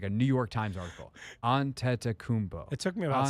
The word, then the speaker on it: Antetokounmpo: We sat there before on the desk going, Giannis we found a pronunciation in like a New York Times article. Antetokounmpo.